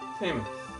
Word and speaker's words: salmon: Sam. Sam. I see. I always just thought it was Yeah. The L is silent.